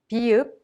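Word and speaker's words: 비읍: Mium has the English M sound, and Biup has a soft P sound in between a P sound and a B sound.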